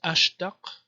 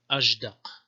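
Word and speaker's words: أشدق: So this word, according to Sibawayh, should be pronounced Ajdaq. Not Ashdaq, but Ajdaq. So it's voiced because of the following dal.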